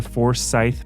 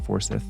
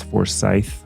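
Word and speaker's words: Forsyth: so we went to for Scythe Park I learned that I was mispronouncing that a lot I was saying forth oh that's but it's for Scythe like a scythe and there are some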